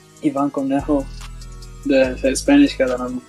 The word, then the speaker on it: Cornejo: Ivan Cornejo, the Spanish guy that I'm gonna go see in his concert. If you pronounced it American, it would be Ivan Cornjeo.